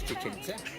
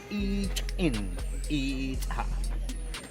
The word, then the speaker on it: Chichen Itza: In Spanish, sounds like this, Chichen Itza. But remember, this name is not in Spanish, it's in the Mayan language. Yeah. And the real pronunciation in the Mayan language is this one. Wow. This is the real. Did you guys listen to what he just said? How the Mayan pronouncing it? Chichen Itza. Oh, that's how the Mayans say it?